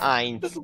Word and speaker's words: Heinz: Pronuncia Heinz, perché è tedesco.